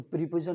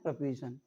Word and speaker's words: preposition: प्रपोजिशन। तो इसका शुद्ध प्रोनाउंसिएशन है प्रपोजिशन, प्रीपोजिशन नहीं, प्रपोजिशन।